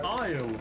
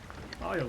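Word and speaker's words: Isley: Isle. The E is silent. Isle.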